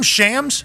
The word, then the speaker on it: Shams: And is your name Shams? Have we been saying it wrong this entire time? Nah, it's Shams. It's Shams hilarious knows that.